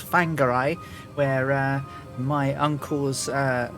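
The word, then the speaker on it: Whangārei: to a place called fangarai where uh my uncle's uh lady friend had a at a farm so it would be landing landing at thangarai spelt w-h-a-n-g-a-r but wh is pronounced so fangary i had an italian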